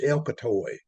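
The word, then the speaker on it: Elkatawa: Uh those F units I mentioned were primarily used in pusher service up Elcatawa Hill, which locally, by the way, is pronounced Elcatoy.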